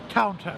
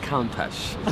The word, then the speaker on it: Countach: Okay, we always pronounce it as Countach.